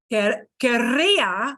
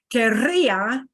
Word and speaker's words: querría: But do notice that querría with a strong trill, querría is not the same as quería. So here's the one little again, a caveat. Here, this is a pronunciation thing. Quería with a little trill. Quería, I wanted, past. But look, querría is conditional, strong trill. So that does make a difference.